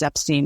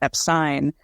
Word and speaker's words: Epstein: of a on YouTube you can find him talking about how it's EP scene not Epstein but again he also says